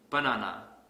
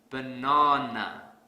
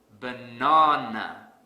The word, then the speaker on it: banana: pronounce this word has banana this is incorrect because I don't stress the second syllable so to fix this I will stress the second syllable really hard banana banana the sad silly but